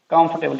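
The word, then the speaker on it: comfortable: कंफर्टेबल इसमें ओ की sound बिल्कुल नहीं है, कंफर्टेबल कंफर्टेबल।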